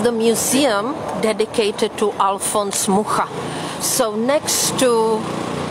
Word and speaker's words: Mucha: lived in France, and there they used to pronounce his name, that we say Mucha, that's C-H, they pronounce as Sh, Mucha.